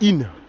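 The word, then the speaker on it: Isnes: Ça s'écrit Isne, mais c'est pas Isne, c'est In.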